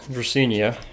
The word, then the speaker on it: Dracaena: Got this here Dracaena. That's how you pronounce it.